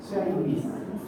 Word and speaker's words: shines: ahí no se da otra sílaba, porque el verbo solito, sin la S, se dice shine. Y cuando yo le pongo la S, no hay otra sílaba, es solo un sonido. Shine, shines. Después, el otro día ¿lo